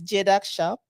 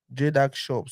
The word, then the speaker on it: Jedag Shop: go to your Facebook uh how do you pronounce the name again it's jedac shop jedac shop so for those who are watching um that